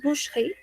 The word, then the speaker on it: boucherie: Aquí entonces sucede lo mismo, no decimos boucherie, sino que decimos boucherie.